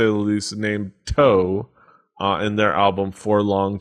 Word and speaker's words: Toe: He's going to bring us an album by a very interesting group, to say the least, named Toe, in their album For Long Tomorrow. Spell that out for everybody.